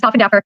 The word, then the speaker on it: Koffendorfer: Okay, so I have to tell you, that's actually how it's pronounced, is Koffendorfer. But so many people say that it's just kind of stuck.